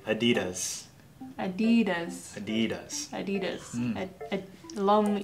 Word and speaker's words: adidas: about DDoS adidas mm-hmm it's really fast adidas mm-hmm three syllables do you like friends